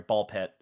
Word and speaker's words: Ball x Pit: it won over Absilum Ball X Pit or sorry Ball Pit the X is silent.